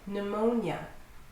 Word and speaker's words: pneumonia: Pneumonia. The initial P at the beginning is silent. Pneumonia.